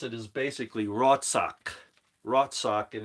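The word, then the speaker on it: רצח: that that's not really important now how you pronounce it is basically rotsock rot sock in its word seven five two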